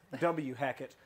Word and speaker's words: Hackett: Hackett. Pronounced Whackett. Whackett. Can you whack it?